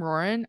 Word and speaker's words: Ruoyun: of like hi I'm Lauren I am bisexual take it or leave it like it was just so like roaring Asian American you pronounce my name like roaring like Lauren with an R don't try to I'm